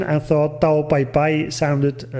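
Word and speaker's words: Tao Pai Pai: case in the past Toriyama Sensei uses the Chinese pronunciation of these characters which make it Tau bye bye and in an interview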